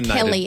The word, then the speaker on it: Kel: He said C-A-L. It's Kel, everyone. K-E-L.